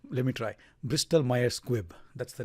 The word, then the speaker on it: Bristol-Myers Squibb: one for today would be another pharmaceutical company Bristol mere squib can't say it correctly let me try bristol-myers Squibb that's the name of the company also known